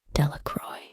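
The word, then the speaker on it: Delacroix: Jones and Dicky delaa the villagers pronounced this name delacroy eventually made a great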